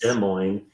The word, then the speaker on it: Des Moines: an answer to the previous question and it's pronounced Des Moines and no um about Salt Lake City right